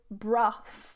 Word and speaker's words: Brough: So what we've got here is Brough.